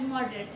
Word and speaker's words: moderate: or he's not extreme, he or she is not extreme, or a person with moderate views. It has moderate.